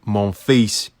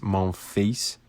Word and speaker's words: Monfils: And I think Gael Monfils, Monfils, I'm pretty sure it's pronounced Monfils. Monfils.